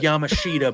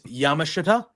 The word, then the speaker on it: Yamashita: I was going to say I thought it was Yamashida, but it's Yamashita.